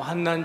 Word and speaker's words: 환난: 중에도 즐거워하나니이는 환난은 인내를 제가 환난이라고 읽는 것은 환난이기 때문에 난이라고 있는 것입니다 환난과 환난이 달라요 단의 뜻은 비슷한데 이것이 다르기 때문에 제가 혀가 짧아서 난이라 그러는게 아니고 환난이어서 난이라고는 것입니다은 요 근데 우리가 다만